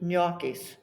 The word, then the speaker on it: gnocchi: It's like the word gnaw, G-N, gnocchis, same way.